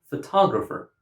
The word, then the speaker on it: photograph: Now, in the first word, because the speaker puts the stress on the first syllable, we understand that the word is photograph. And in the second word, because the speaker puts the stress on the second syllable, we understand that the word is photographer.